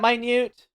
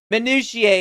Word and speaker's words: minutiae: Is that minute? Because that's not how it's spelled. That's what it said. Minutiae is the word.